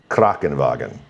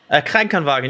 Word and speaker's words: Krankenwagen: Krankenwagen. Krankenwagen, yeah, it's so close.